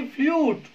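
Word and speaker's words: flute: ई आ रहा है, अंत में आने वाले ई को तो आपको साइलेंट रखना है। कैसा रखना है? साइलेंट रखना है। और इस यू के साउंड आपको यू ही निकालनी है, ऐसे फ्लूट।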